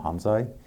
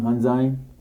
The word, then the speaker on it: Hamzaj: Well, Hamzaj, did I say it right? Hamzaj.